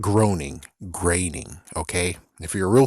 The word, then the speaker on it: Groening: It's like, yeah, but you're gonna say graining, you're gonna say groaning and not graining.